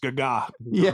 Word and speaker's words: Gaga: went all in and pronounced Gaga the right way it's not like Lady Gaga it's Sally gaga gaga yeah and uh the